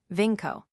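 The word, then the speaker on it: vinco: Vinko. The verb vinko to conquer. The first syllable the same as our win formed the present participle Vincens.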